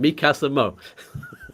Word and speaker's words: Mikasmo: Mikasmo. Yeah, it's a fusion of Mikasa, my house, and Tiamo, I love.